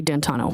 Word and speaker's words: D'Antuono: How do you pronounce the name? It's Ricky D'Antano.